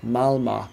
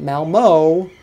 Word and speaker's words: Malmö: competition tomorrow and I gotta say I'm loving malmö not Malmo but Malmo alright see you soon bye how